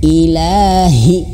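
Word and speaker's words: إِلٰهِ: perhatikan dulu ilahinas nah ini perhatikan Il lanya panjang dua harakat ya tapi Iya jangan panjang i i Hi ha-nya Nah di sini di garis bawahi Hnya harus besar Ilahi Hi nah terasa di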